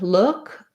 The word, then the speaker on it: look: And then for look, I might pair it with something like good look, or I'm going to try to use one that doesn't have two O's because this vowel in look might be giving you some trouble. So a good one would be could. I could look.